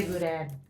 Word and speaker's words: boudin: oysters um and then also I had a boudin balls I always say it wrong I'm so sorry Louisiana I don't even think I said that right how do you say boudin for Dad oh I am saying it right